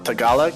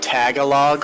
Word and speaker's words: Tagalog: Filipino people, and so I know their language is pronounced Tagalog. Mm-hmm. And watching the Fox News reporter call it Tagalog, I was like, oh my god.